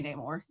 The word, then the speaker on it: Namor: How do you say this name? Namor. No more. Yeah, I say Namor. That's Nobody says no more.